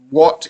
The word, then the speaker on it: watt: So you probably should, but if you don't, what is I think like a measurement of power? Why it's spelled WATT, and it sounds like what? Like it sounds like WH, and there's no H.